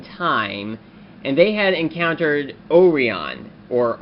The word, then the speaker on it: Orion: had encountered Orion, or Orion. Well, it was pronounced Orion in Kyuranger, but in America it would be pronounced Orion. Kind of odd how Japan pronounces English words very differently from actual English-speaking people.